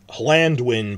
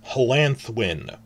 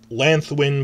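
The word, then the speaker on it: Llanddwyn: how the D's work, you'd think it's Hlandwyn, but now we know it's Hlanthwyn. It's Lanthwyn, but with the Welsh, it's almost like Hlanthwyn.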